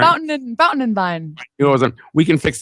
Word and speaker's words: Fountain and Vine: Vine and Fountain. I said it. Did I say it right? Fountain and Vine.